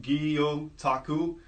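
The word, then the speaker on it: gyotaku: so the art from aggie otaku pronounced EEO Taku actually translate to Japanese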